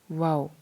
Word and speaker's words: वा: Letters की pronunciation को बिल्कुल नहीं भूलना, वाओ है तो इसको गोल करेंगे मुंह को, वाओ खड़ी ज़बर वा, ये नहीं बोलना, वाओ खड़ी ज़बर वाह नहीं बोलना।